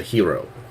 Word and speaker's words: gyro: pronounce it as a hero Aaron was called gyri it's pronounced many different ways depending upon how Greek you are don't agree I don't